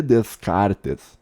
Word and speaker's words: Descartes: ele ele por uns Descartes se escreve termina com t e s tá só que você não leu o s no final em português só não lê Descartes que nem ele falou